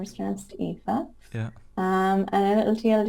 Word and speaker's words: Aoife: yes my pin tweet so it's my name pronunciation which is the first thing that people struggle with yeah my name is etha yeah um and it'll tell you what i